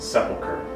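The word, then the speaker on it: sepulchre: I've always heard it pronounced sepulcher. I've heard both, honestly. Well, I've never heard the word, so this has been a new word with Larry.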